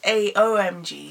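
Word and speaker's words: AOMG: is well how it's pronounced because I'm terrible pronunciation no owes a OMG sorry is a OMG by Jay post company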